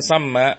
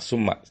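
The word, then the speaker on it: ثَمَّ: artinya di sana, ya, dengan memfathahkan sa, ya, karena khawatir, ya, antum salah dibacanya dengan dhamma summa.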